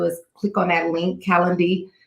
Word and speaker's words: Calendly: All you have to do is click on that link, Calendly. I always say it wrong. I want to say calendar, but it's not calendar.